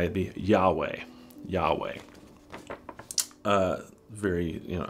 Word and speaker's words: Yahweh: hebrew it is called it would be pronounced yahweh uh jehovah is a a